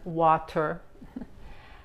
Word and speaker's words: water: Sí, nosotros los estadounidenses pronunciamos la T como la D en inglés y no la T. Los ingleses sí pronuncian la palabra bien, dicen water. Water, nosotros decimos water.